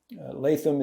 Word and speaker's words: Latham: Latham is sometimes seen on both sides of the border in England, northern England and Scotland, pronounced as I pronounce my name.